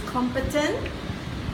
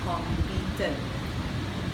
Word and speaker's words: competent: very very common one it's competent not completed we use this so